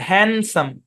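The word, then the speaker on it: handsome: শুধু এতটুক মনে রাখেন হ্যান্ডসাম শব্দের মধ্যে ডি সাইলেন্ট হ্যান্ডসাম ব্যাস দ্যাটস ইট হ্যান্ডসাম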